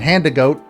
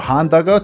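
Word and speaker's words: Handagote: 10 years calling it hand to goat then i go to find out that it's actually meant to be pronounced as if you're speaking japanese so honda gote there it is this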